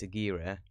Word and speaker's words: Aguirre: always thought it was either aguirre or a gear but it's not it's a gear um the wrath of